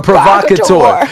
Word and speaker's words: provocateur: You're a provocateur. He pronounced it mad good. You know, the R was strong.